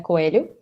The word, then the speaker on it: Coelho: everyone my name is coelu um yeah this is the pronunciation many people ask me